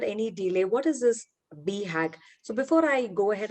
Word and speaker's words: BHAG: The pronunciation of this word is BHAG. So it's not bhag, like in Hindi word, it's like run, but you can run for your goals.